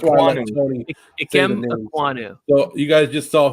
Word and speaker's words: Ekwonu: Ignawu. You just messed up my brain. I was like, wait, is this dude trying to say Ewok? It's Ekwonu is his last name.